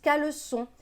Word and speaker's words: caleçon: on ne veut pas on veut qu'ils se prononcent caleçon du coup on met une série en dessous